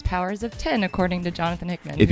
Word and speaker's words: Powers of X: If you think we're lying, Jonathan Hickman said that officially it's Powers of 10. Yeah. So we should all be saying it correctly, I think, now.